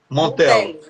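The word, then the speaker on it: Montello: Montelo ou Josué? Faz a pronúncia aí, Chico, para não fazer a pronúncia errada. Montelo.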